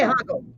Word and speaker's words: hago: The H is silent.